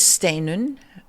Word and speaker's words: Steinunn: me my name is stun uh my full name is which sounds awfully long but um you pronounce stain like the word Stay N and All Icelandic names